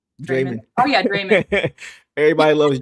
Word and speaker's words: Draymond: Organic says she pronounces it the way we say Raymond. Draymond.